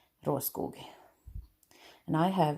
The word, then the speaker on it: Råskog: That's how you pronounce it. I know many Americans say råskog because it's not easy to pronounce, I guess, if you're not from Sweden. I am, so you say råskog.